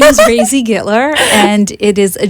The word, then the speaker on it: Raisy: with my name so rzy there you go well that's okay I when I first saw her I I I said hi Daisy and she went oh yeah it rhymes with Daisy it's crazy so there